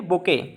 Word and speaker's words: bouquet: पे गौर फरमाइए, बुके, इसको पढ़ते हैं बुके, इसकी स्पेलिंग ध्यान रखिए, BOUQUET, BOUQUET। ये बहुत सारे एग्जाम्स में इसकी स्पेलिंग पूछी गई है, SSC के बहुत सारे एग्जाम्स कई कई बार इसका स्पेलिंग पूछा गया है। इसको हम पढ़ते हैं बुके, बट ये लिखा है BOUQUET।